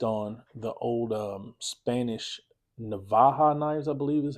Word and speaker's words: Navaja: And it's based on the old um Spanish Navaja knives, I believe is how it's pronounced. NAV AJ AA Navaja or Naja.